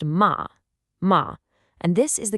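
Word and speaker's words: 马: The second character is ma. That's pronounced ma.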